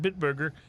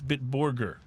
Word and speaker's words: Bitburger: It's not Bitburger, it's Bitburger. Bitburger. That sounds more Bitburger, proper.